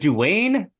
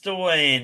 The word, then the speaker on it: Dwayne: Is it Duane? It is Dwayne I Zabel. always confuse that spelling and that pronunciation. I always think it's Duane or Don.